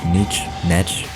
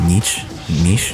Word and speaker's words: niche: want to focus in on my niche my nietzsche how's that pronounced niche niche yes okay anyways uh so i'm gonna go